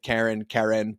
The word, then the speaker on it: Keren: And it's spelt Keren, Keren. And I asked, and she said Keren, but never the label and never the meme.